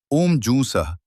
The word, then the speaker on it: ॐ जूं सः: सूत जी ने कहा, मृत्युंजय मंत्र ओम, जू सः तीन अक्षरों वाला है। पहले ओम का उच्चारण करें। फिर ज हु का उच्चारण करें और उसके बाद विसर्ग सहित स का उच्चारण करना चाहिए।